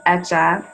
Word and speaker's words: Hecha: our brand name is etcha and it's a word uh that in spanish it means made or created in terms of pronunciation the h is silent so it's just etch